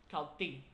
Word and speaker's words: Kaltxì: That's supposed to mean it sounds like the I in the word sit, is as in sit down. So it's Kaltxì. So it's a very short ejective T sound.